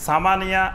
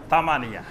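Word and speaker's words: ثمانية: অঞ্চলের ভাষা আছে তো অনেক অঞ্চলে সা অক্ষর থেকে তারা তা উচ্চারণ করে অর্থাৎ এসনান বলবে না বলবে এতন সালাসা বলবে না বলবে তালাতা সামানিয়া আট হলো সামানিয়া সামানিয়া বলবে না বলবে তামানিয়া আবার আরবের কিছু অঞ্চল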